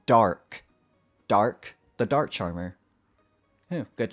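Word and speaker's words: Dharc: by the way uh i always pronounced his name dars with an s sound at the end but it turns out his name is actually pronounced dark dark the dark charmer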